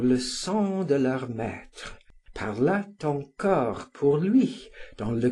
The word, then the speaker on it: parlât: person of the subjunctive, whereas I had always written and pronounced it parla, as in the present of the indicative.